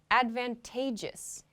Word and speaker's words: advantageous: kind of interesting because the pronunciation changes a little bit we have the noun Advantage Advantage when we pronounce this adjective though we say advantageous advantageous so the emphasis